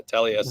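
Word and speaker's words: Taliese: Yeah, Taliesin.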